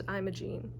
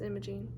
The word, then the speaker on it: Imogen: at images Imaging I looked at how to pronounce that too I thought it was Imogene but it's Imaging at imogenes insistence Haven